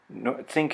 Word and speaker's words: think: Think is spelled T-H-I-N-K, but if you listen, you'll hear it has that ng sound in it.